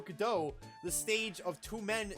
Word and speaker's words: Godot: Bligh is related mr. masks pronounced Godot correctly that's cuz it's for Waiting for Godot the stage of two